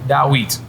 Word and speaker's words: Dawit: Dawit. Dawit? I feel like we're saying the same things here. I had it right the whole time. It's a T at the end.